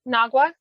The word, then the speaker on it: Nagwa: So I don't remember if I fully explained why sometimes you'll see her name spelled with a G, Nagwa, or sometimes you'll say it with a J. As I understand it, in Arabic, it's a dialect thing. The G, the hard G sound, is more of a Cairo pronunciation, and the J sound would be other parts of Egypt, most of the other.